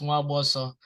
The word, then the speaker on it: Nwagboso: The NW sounds like a letter, so the N is silent. So it's Nwagboso. So if you get it that close, then that's an A plus for you.